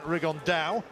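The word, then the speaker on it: Rigondeaux: tate's talked about fighting rig on though or as he's correctly pronounced with the spanish accent rig on dao and two absolute geniuses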